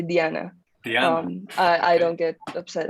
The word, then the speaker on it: Diana: from mexico city so i do pronounce my name in spanish so i say diana i i don't get